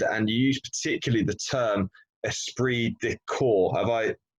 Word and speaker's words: esprit de corps: great culture and and use particularly the term esprit de corps have I pronounced that correctly absolutely yeah you taught that